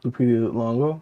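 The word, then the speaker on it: Lupita Nyong'o: And they're coming out with a new one with how do you pronounce her name? Lupita. Lupita Longo.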